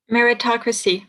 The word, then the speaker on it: meritocracy: married married meritocracy what's in how do you pronounce it in english meritocracy meritocracy exactly so where we are told if